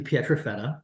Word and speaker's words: Pietrafetta: I'm Petrafetta, and I joke with my students that if you can pronounce my last name correctly, you'll score 100